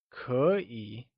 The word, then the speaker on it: 可: It is said with a falling rising tone, like 可.